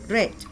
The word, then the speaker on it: read: read is red r-e-a-d red the spelling Remains the Same but in the past tense you need to pronounce it as red red becomes red at night he read